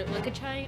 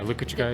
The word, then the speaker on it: Lukachukai: Some people know our names too and everything, and they're like at our Lukachukai show or Lukachai. I don't know how to say it. Yeah, Lukachukai. Yeah.